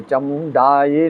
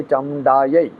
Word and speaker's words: चामुंडायै: कई लोग इसका गलत उच्चारण कर लेते हैं, ध्यान नहीं देते। चामुंडायै नहीं है, चामुंडायै, विच्चे नहीं है, विच्चे।